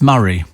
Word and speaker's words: Moray: somebody else saying oh moray is pronounced murray said craig oh listen